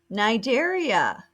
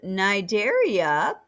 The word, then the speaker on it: Cnidaria: in the video phylum nigeria that c is silent you may not know